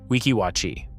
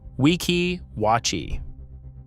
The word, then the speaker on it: Weeki Wachee: Say the spring name correctly, Weeki Wachee. Weeki Wachee.